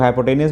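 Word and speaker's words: hypotenuse: तो theta 90 degree सामने वाली हमेशा हाइपोथेनस होती है, ठीक है, जिसको एच बोलते हो। हाइपोथेनस कुछ लोग हाइपोटेनियस बोलते हैं, बट ये फॉरेन लैंग्वेज जो प्रोनाउंसिएशन है वो हाइपोथेनस बोलते हैं, इसलिए आप कुछ लोग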